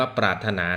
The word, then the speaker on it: ปรารถนา: อ่า เป็น คำ เฉพาะ ปรารถนา ก็ เขียน แบบ นี้ นะ ครับ ปร อา แล้ว ก็ มี ร เรือ ถ ถุง บาง คน ใช้ หลัก การ จำ ว่า ปาร นานะ อัน นี้ อ่าน ว่า ปรารถนา นัก เรียน ควร จำ คำ